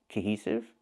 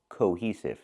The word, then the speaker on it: cohesive: The word is pronounced cohesive, not cohesive. We need the long O, co, like no and go. Cohesive. With the H sound, plus the long E sound like see and me. Cohe, cohe.